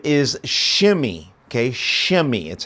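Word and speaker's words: Shimei: to Saul and his name is shimmy okay shimmy that's how you would pronounce it shimmy shim shimmy comes out because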